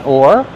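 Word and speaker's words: oar: All right, so the first word or. This is pronounced the same as this or that.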